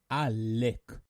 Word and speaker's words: עאלק: and originates from arabic when pronouncing the word make sure to lengthen it as such a lick let's review some examples